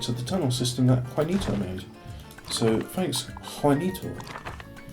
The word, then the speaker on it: Juanito: the tunnel system that Juanito made. So thanks, Juanito. Your name has a J in it. I want to pronounce it as Janito. And that's me being Anglo, so there we have it.